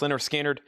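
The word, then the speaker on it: Lynyrd Skynyrd: Leonard Skinner, pronounced Leonard Skinner, $59.99.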